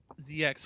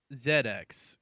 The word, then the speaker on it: ZX: # It is pronounced ZX. Yes, I I did correct myself in the show. Oh, I said ZX once, but I'm like, wait, no, Zed X because it's only their system really.